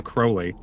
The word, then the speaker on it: Crowley: or Crowley. I believe it's Crowley is the correct pronunciation.